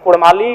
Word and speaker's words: कुड़माली: मांग करता हूं कि र के स्थान पे अड़क किया जाए क्योंकि कुड़माली साहित्य की बात करें तो अड़ का महत्त्वपूर्ण स्थान है जैसे काड़ा माड़ भेड़ा पीड़ा डाा गौड़ म यह उच्चारण केवल कुड़माली साहित्य में ही संभव है अभी अगर इसका आप